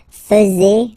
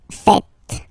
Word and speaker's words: faites: And it's quite funny because many French people tend to make the mistake and tend to say vous faisiez, okay? But then no. It's vous faites. Vous faites. Okay, so remember, final S here is not pronounced, and then this is not pronounced either. So faites, faites.